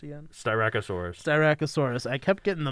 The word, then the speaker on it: Styracosaurus: of an oh and think of a donut there we go yeah